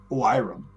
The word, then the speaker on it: Oiram: Rather, Oiram, that's how it's pronounced, was controlling himself.